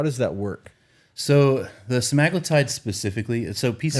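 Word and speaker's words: semaglutide: that work so the smaggletide specifically so people am I saying it wrong I say magnetite can and any other Medical Professional would say semi-glutid okay I don't know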